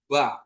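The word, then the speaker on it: בא: kita ingat ya terus untuk B dikasih kamat tanpak ditambah alep dia bacanya ba ya Di mana alep tadi huruf senyap jadi bacanya ba ba artinya datang atau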